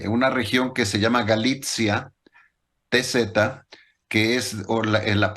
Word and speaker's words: Galicia: Y es curioso porque mucha gente cree que esa Galicia es la Galicia de España y no tiene nada que ver. Por eso yo lo pronuncio como Galicia, enfatizo el TZ para que se sepa.